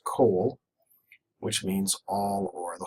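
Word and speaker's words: כֹּל: here is, and kol, it's not pronounced call, it's pronounced kol, which means all or the whole.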